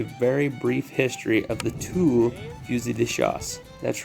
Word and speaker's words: Tulle: go over a very brief history of the tool yuzidishas that's right it's pronounced two i know that that looks like a v